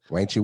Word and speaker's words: Wanch: Wanchy. Wanchy on Instagram, Facebook, and everything else. Wanch. WANCH. If you're from Memphis, how they say it? You gotta say it the Memphis way though.